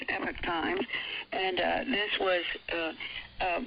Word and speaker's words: Epoch Times: information from uh epitase what do you pronounce it epic time we hear others say Epoch times the dictionary says Epic Times and uh this was